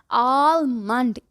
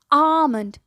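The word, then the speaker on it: almond: ये dry fruit मुझे बहुत पसंद है, पर जिसको देखो कहता है आलमंड। ई, ये आलमंड क्या होता है भाई? इट्स आमंड।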